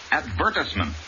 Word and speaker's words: advertisement: section of the newspaper the word advertisement accent on the second syllable not advertisement and remember the i in this word is also short six the attorney became